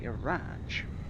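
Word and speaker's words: Radge: They went and called me Araj. Now, through here, over here, it's spelled as R-A-D-G-E. It's like rage with a D in it.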